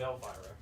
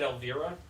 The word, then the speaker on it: Elvira: his own gravestone yep everyone in the comments is now just going on about your pronunciation of Elvira oh how did I you said Alvira um I'm sorry yeah